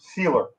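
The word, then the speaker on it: Sieler: we got to pay zeiler or Z how do you say it Evan you know sealer sealer yeah do you think they're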